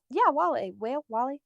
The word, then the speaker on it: Wale: No, and didn't you Wale guys is see gonna that? perform for him. Wale.